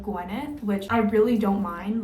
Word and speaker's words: Gwenyth: my name wrong because they'll say like gwynth instead of Guth which I really don't